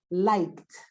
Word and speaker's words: liked: In that case, the ED is pronounced like a T. So you pronounce this. Liked.